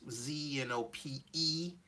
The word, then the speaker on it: Zenophon: Only problem is that name, my first name is spelled Zenophon, but it's Zenopeon, but, all right?